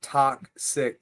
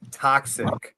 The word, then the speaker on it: Talksiik: And it's pronounced more not toxic. Toxic, right?